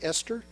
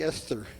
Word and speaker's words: Esther: How do you say that? E-S-T-H-E, Esther? It's got a T-H, like Esther.